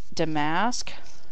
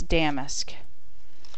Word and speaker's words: damask: I just found out I've always said this as damask but it's damask is the proper pronunciation I'm from the south